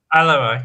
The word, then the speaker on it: Alevi: Participated in various protests to oppose discrimination against the Christian, Jewish, and how do you pronounce that? Alevi? Alevi, yes.